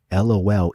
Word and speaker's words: LOL: And I think he pronounced LOL, if it is indeed League of Legends, as lol. And that line stuck out to me in the song. Lol rhymes with rolls.